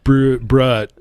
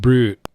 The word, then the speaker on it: brut: It's not pronounced brut. It's pronounced brute.